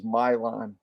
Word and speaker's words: Milan: that's m-i-l-a-n right correct just like Milan Italy but it's the American uh pronunciation is Mylon on it okay and